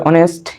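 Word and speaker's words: honest: যে অনার পরে হচ্ছে অনেস্ট এগুলো থাকলে আমরা প্রথম লেটারটা উচ্চারণ হয় না বিধায় এজন্য এটা টা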